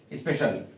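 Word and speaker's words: special: सी आई ए एल सी आई ए एल इसका जब आप प्रोनंसिएशन करने जाओगे शल इसको क्या पढ़ोगे स्पेशियल जैसे स्पेलिंग है स्पेशल ऐसे स्पेशल बोलते हैं इसको प्रोनंसिएशन देखा जाए तो स्पेशल ध्यान रखें सी आई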